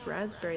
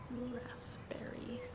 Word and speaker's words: raspberry: Why don't we pronounce raspberry the way it's spelled? Raspberry.